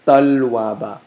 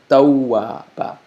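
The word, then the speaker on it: تَوَّابًا: So taw, it's not, what the mistake many people make is they think it's talwaba, like a T-A-L-W-A, but it's tawwaba, okay?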